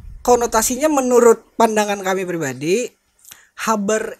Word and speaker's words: habar: Nah, karena konotasinya menurut pandangan kami pribadi, habar itu seperti orang Kalimantan pelafalan ya? orang-orang daerah kita.